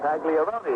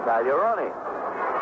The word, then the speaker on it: Pagliarone: When he came to Pittsburgh, he was asked how he wanted his name pronounced, and he said Pagliarone. And they said, well, at Boston, it was pronounced Pagliarone.